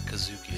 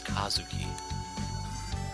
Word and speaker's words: Kazuki: names correctly it's not Kazuki it's Kazuki you know put the emphasis on the first part of it simple how about you